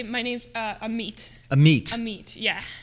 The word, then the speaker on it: Amit: I would like to say my name's uh am meit am meit am me yeah wow well I'm